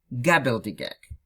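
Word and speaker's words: gobbledygook: Читается как, so it's read at gabbledygook. Yeah? С основным ударением на га в начале слова. So we said с основным ударением, with the fundamental, with the like main, yeah? In this case, основной means main. with the main stress on ga at the beginning of the word.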